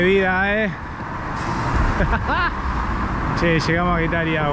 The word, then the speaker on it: Getaria: Che, llegamos a Getaria, o Getaria, creo que se pronuncia Getaria.